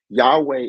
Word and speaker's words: Yahweh: night name Yahweh right Yahweh is not to be said with multiple syllables right it's to be said with your breath so when you breathe in it's yah yeah so it's really a breath in and out so in other words